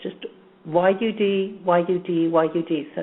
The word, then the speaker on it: Yud: the way, the name, the way it's pronounced for stopping fatal attractions into our life is Yud, Yud, Yud. Okay, it's just Y-U-D, Y-U-D, Y-U-D.